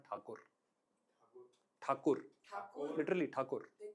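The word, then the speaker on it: ঠাকুর: So it's not Rabindranath Tagore, it's Rabindranath Thakur.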